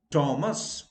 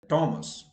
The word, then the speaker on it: Thomas: they tend to pronounce thomas so i have come across people introducing themselves to me um well i am mr thomas or my name is thomas no h is silent thomas now another example h